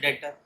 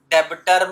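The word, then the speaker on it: debtor: cell किया है उ डेटर डेबिटर मत बोल देना साइलेंट होता है तो क्या बनता है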